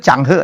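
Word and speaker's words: Zheng He: Ternyata bacanya itu Changhe ya, bukan Cengo ya.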